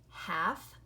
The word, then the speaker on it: half: remember a word like half or calf it has the L in it but the L is silent so it says all